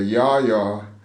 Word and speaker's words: Llaya: I just want to drop, so you were saying earlier, Yaya is spelled LL. Yeah. And what in Spanish is? The double L in Spanish.